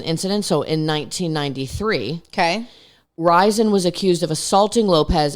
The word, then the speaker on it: Rison: Rison? You're right. Rison.